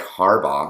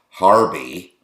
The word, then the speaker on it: Harbaugh: And when she's mispronouncing names like Harbaugh and she's calling him Harby, I had this woman